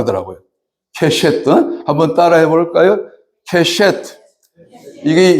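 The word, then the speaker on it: קשת: 찾아봤더니, 무지개가 히브리어로 좀 선배 목사님들한테 미안한데 얘기지만 케셰트라고 하더라고요. 케셰트.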